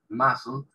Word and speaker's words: muscles: A los músculos, muscles, la C, acá no se pronuncia, muscles, que ayudan a los músculos y a los huesos, bones, ¿sí?